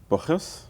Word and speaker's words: Borges: It's Borges.